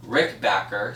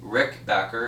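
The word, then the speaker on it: Rickenbacker: was any Rick bit Rick backer sorry Rick backer it sounds just as you spell it he is not do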